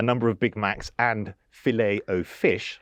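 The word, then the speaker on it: Filet-O-Fish: of Big Macs and filet o fish, I believe, as it's correctly pronounced.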